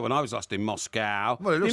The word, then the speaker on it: Moscow: Well, it wasn't there when I was last in Moscow. Well, it looks like an old call bar. it Moscow, don't they? Moscow, yeah. Moscow. They pronounce the C-O-W as cow.